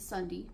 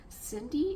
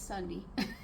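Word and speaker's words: Sundie: My name is Sunday, S U N D I E. I always have to spell it to people because they always send it Cindy? Is it Cindy or Sandy? No, it it's Sunday.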